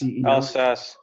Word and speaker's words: Alsace: And he left and he was kidnapped and imprisoned in how do you pronounce it? It's the border of France and Germany. Alsace.